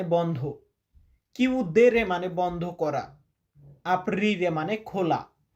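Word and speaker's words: aprire: তো ভাই আমি প্রত্যেকটা শব্দকে চারবার পাঁচবার উচ্চারণ করি। দয়া করে আপনারা সম্পূর্ণ ভিডিওগুলা দেখবেন এবং শব্দগুলা মুখস্ত করবেন। এখানে আমরা রেখেছি আপিরে।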